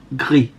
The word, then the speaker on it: Gris: So I don't think you should pronounce the S, as it's, if it ends on an S with no E behind it in French, the S is silent, so it's gris, which means grey.